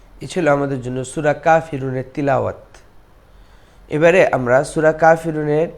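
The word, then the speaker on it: كافرون: আইয়ু, কুল ইয়া আইয়ুহাল কাফিরুন। এখানেও কাফের না, আমরা অনেকে বাংলায় কাফের বলতে বলতে এখানেও কাফেরুন পড়ি, এটা ভুল।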